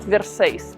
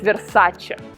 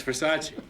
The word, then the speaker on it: Versace: the friend corrected her it's not verses it's versace it's overseas it's versace it's pronounced versace versace